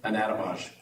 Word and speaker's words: Anatomage: Anatomage.